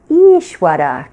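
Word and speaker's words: Īśvara: word this week is Ishwara can you say that each Wetty so what you want to do is hold that first vowel for two beats to matras right because it's a long e so the sound is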